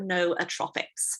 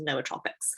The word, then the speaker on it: nootropics: today it's all about no atrophics or nootropics i like to call them but the right way to pronounce them is no tropics so we're gonna go